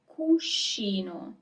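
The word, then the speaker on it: cuscino: do is pillow is cushino. So here you also have the group s c i that is always pronounced as she. It's never ski unless there is an H. Otherwise, it's she.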